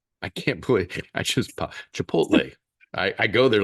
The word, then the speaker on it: Chipotle: rolling into you know Chipotle chipot I just mispronounced chip chipot I go there like once